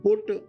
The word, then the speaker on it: put: तो जो प्रोनाउंसिएशन है, जो उच्चारण है, तो बोले BUT बट, तो PUT, तो पट होता नहीं, वो बोलते हैं अंग्रेजी में पुट। तो PUT बोले पुट, तो बगल में लिखा BUT, अब हो जाएगा बुट।